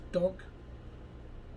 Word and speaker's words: Dvnk: called cookie king and the flavor is dunk it's spelled dvnk uh you can find